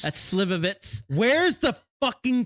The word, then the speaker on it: Slivovitz: I don't know how to pronounce it. Slivovies. That's Slivovitz.